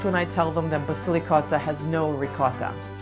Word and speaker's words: Basilicotta: lot of people say basil cotta it's totally ok it's pronounced Basilicata because it is evocative of ricotta and it's loaded with basil so it's kind of